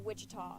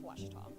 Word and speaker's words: Ouachita: cheetah is it pronounced back in texas everybody pronounces it wichita but really it's ouachita washington washington how would you pronounce it baptist